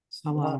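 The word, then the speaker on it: سلام: Salam. It's salam. Salam, with a long ah sound.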